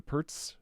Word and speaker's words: Pirc: another game of the the pertz with the z right is it how you say it yes peter's defense appears but